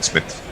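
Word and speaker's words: Psmith: uh yeah in in Smith yes although I'm sure the p is silent although jofo again flashes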